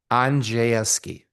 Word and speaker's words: Aneski: It's uh Aneski. You kind of scrunched the middle together.